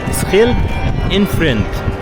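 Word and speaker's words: schild en vriend: لان الفرنسيين اصلا ما بيعرفوش ينطقوا حرف الخ احنا بنعرف ننطق حرف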